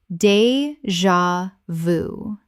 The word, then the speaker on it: déjà vu: Correct pronunciation, déjà vu. 3 syllables with the J making a Z sound. From French.